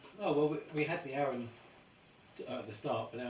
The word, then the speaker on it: Aren: So I decided, to use over the years like a pseudonym, and it was made out of my initials, which is RN, so phonetically it's Aren.